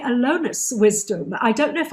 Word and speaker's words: Allonus: name is joy wisdom and the founder of alunus uh zestify programs yeah yes yes that's it